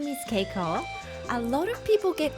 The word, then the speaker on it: Keiko: My name is Ko. A lot of people get confused and say Kiko or Kaiko, but it's actually pronounced like cake with an O. Ko.